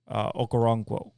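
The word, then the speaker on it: Okoronkwo: a conro Koo sorry ogbo aono okaron basically is how you say it um Denzel Ward got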